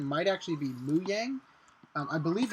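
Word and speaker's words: Mojang: lot of people call moang or or whatever as moang in fact the actual pronunciation might actually be muang um I believe it's moang that's actually the Swedish way to pronounce it um I live in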